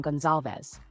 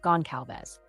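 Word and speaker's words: Goncalves: episodes pronouncing the name we've always pronounced the name Gonzalez despite others pronouncing it gon calz but you know that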